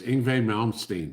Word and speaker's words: Yngwie Malmsteen: Yngwie Malmsteen. Yes, I can pronounce it right because I know the band.